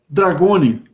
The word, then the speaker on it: Dragone: E em que Dragoni, essa é a pronúncia certa do seu nome, né?